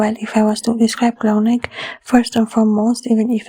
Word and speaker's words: Clauneck: We have the 2 fours, Clauneck. We say the Clauneck has 3 syllables, but the letters, we